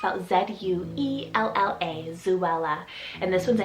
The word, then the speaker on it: Zuella: girl side is the name zuvala it's about z-u-e-l-l-a zuella and this one's a hidden virtue name